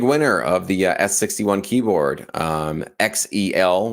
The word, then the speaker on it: XEL: All right, here's our big winner of the S61 keyboard, XEL, which I learned that's how you pronounce it, not Zell.